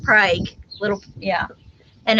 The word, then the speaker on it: Prague: prague oklahoma but it's felt pr but it's pronounced prague little yeah and it's it's it's actually a